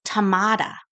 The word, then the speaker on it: Tamara: She comes in and she tells me it's Tamada, like with a D. And I'm like, what? She goes, you pronounce it Tamada.